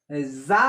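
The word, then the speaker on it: ز: দাল জাল র, জা, যা উচ্চারণ হবে ঝিনঝিনা আওয়াজ হয়ে, কেমন ঝিনঝিনা, দাঁত, দাঁতের নিচে জিহ্বাটা দাঁতের নিচে যা যা যা এভাবে ঝিনঝিনা আওয়াজ হবে, র যা, সিন, জিহ্বাটা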